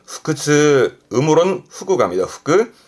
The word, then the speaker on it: 腹痛: 그래서 발음은 후크즈. 음으로론 후그합니다. 후크. 후크즈.